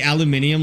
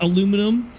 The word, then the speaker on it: aluminium: Do you say aluminium like the Americans and miss out half the letters? Well, we spell it differently. So we actually spell it aluminum. The Brits say aluminium, but they also actually spell it that way.